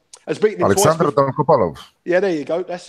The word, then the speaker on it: Dolgopolov: But I'm never good at his pronunciations. Alex will correct me, but Dolgopolov will. has beaten him Alexander twice. Dolgopolov.